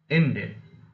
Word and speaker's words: Indian: For example, Indian, Indian. Here, it is already a disyllabic word, therefore there are only two syllables. Therefore, the last, second from last means the first syllable. Therefore, in is the first syllable which is already received the stress.